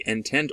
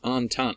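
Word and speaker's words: Entente: you pronounce that word a lot of people think it's like intent or intent a it's not it's on tongue I even gave you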